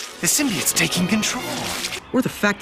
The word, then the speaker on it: symbiote: No, it's symbiote. Symbiote. Damn it. No. Symbiote. It's one word.